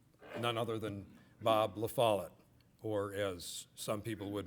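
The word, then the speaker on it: La Follette: get started with u none other than Bob lafalot or as some people would mispronounce the name lafayet those are people from Illinois I guess anyhow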